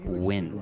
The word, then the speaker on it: Nguyen: I just want to call out just the correct pronunciation of win. N-G-U-Y-N is win.